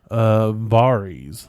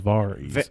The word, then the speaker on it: Varys: Varys. There we go. His name was Varys. Varys. Also, that's how they pronounce it in the show.